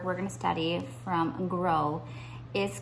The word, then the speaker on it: Gros: last name is pronounced gross but in French it is pronounced grow and so the O is a long sound and there is no s the and no one